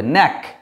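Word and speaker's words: knack: যেমন দেখো এই যে এটাকে কি বলবো? কে এন এ সি কে, তাহলে কে এন দিয়ে শুরু, তার জন্য কে এর উচ্চারণটা হবে না, এন থেকে শুরু হবে, ন্যাক।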